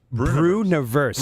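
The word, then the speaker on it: Breuniverse: Brewniverse. It really bothers people. People don't know how to say it. It's just universe, but I put Brew in front of it.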